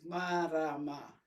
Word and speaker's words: Marama: My name has 3 syllables, Marama.